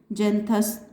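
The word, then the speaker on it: Xanthus: और जेंथस, इसका भी प्रोनाउंसिएशन जैसे बच्चों, इसका जेंथस का स्पेलिंग दूसरी है, प्रोनाउंसिएशन क्या करना है? जेंथस। इसीलिए कहा गया है कि इसको प्रोनाउंशिएट जेंथस करना है।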